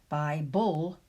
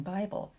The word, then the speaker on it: Bible: Because every syllable needs a vowel sound, the final syllables do contain an unwritten schwa sound. If you listen, you'll hear a schwa between the B and the L in Bible, between the D and the L in cradle.